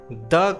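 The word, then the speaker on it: the: Vowel sound के पहले अगर द का यूज़ होता है तो द का प्रोनाउंसिएशन वहाँ पर द की जगह दी हो जाता है। जैसे दी एंट, यहाँ पर एंट में अ साउंड आ रहा है जो कि एक वॉवेल का साउंड है।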